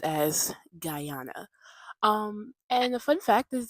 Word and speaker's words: Guyana: Okay, it's pronounced as Guyana.